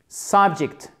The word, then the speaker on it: subject: Et ici, le E se prononce comme un I court. Subject. Accent tonique sur la première syllabe.